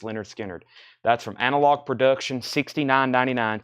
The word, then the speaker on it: Lynyrd Skynyrd: buy of this release pronounced Leonard Skynyrd that's from analog production